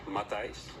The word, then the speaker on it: Matthijs: My first name is pronounced Matthijs. Matthijs? Yeah, a little bit more, instead of the I, it's the I.